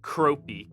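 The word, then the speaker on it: Kropei: joe how do you say his name proppy kropi k-r-o-p-e-i it's a pleasure to meet make your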